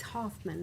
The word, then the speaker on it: Hoffman: It's Hoffman, not Huffman.